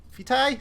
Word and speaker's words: vitae: arrow thing that's your vitae fitai that you pronounce it the latin for life everything um so vitae are